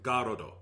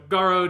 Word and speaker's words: Garrod: to me like like in japanese they would be calling him garudo yeah and and that's and you hear it said so many times for you by tifa it's like telling him garrod would not feel right yes because he's got old so so garrod is what i'm going with like just like the fact that the o is emphasized because it's got to be a lot lengthened yeah it has to